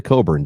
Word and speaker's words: Cockburn: think he pronounces it coburn doesn't he i i don't know i think he pronounces it coburn is it um but it's pernic but it's spelled cockburn yeah okay like the [